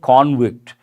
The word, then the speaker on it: convict: we have to say convict he is a convict he has been convicted pronunciation changes though the spelling is the same peush goyel slams Rahul